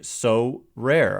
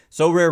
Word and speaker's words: Sorare: But before we do, this episode is brought to you by So Rare.